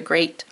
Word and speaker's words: great: here sears the other great which heart word sounds like great and looks like treat so it looks like this but it sounds like this let me put my